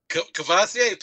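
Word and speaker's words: Kavosiey: Cavassier, Pastor Cavassier.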